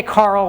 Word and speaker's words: Karel: named after Carol and some people say Carl which is kind of actually closer do I believe it